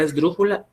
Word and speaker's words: esdrújula: Inclusive la misma palabra esdrújula es esdrújula porque lleva la mayor fuerza de voz en la antepenúltima sílaba, que es dru.